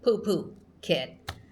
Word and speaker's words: Phuket: we as English speakers, we see the PH and we think like phone, phonetics. No, and it's poo, like Phuket, like poo, ket.